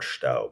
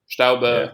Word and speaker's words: Staub: And I'll give you an example by way of a quote from Staub about Mm. halfway through. Am I pronouncing that name correctly? Yeah, sure. Yeah. Staube, but it's fine.